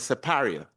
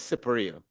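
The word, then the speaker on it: Siparia: the real pronunciation was separ. But as I found out late in life from Sir Michael Anthony himself, it is separia because it's an Amarindian word.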